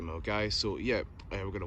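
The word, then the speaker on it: Milngavie: Even though I get told by Driverking that you actually don't see the Gelvive, as you can see it doesn't look like it's pronounced the same, but it's actually Melgai.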